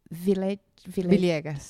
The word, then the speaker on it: Villegas: Why don't you jump in and say your name the way you pronounce it? Okay. Yeah. Oh, okay. Villegas. Villegas.